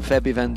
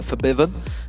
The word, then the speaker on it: Febiven: for for Biven who we have been told to pronounce it that way by the way if anyone's wondering why we've changed it from febiven to fiven and the same with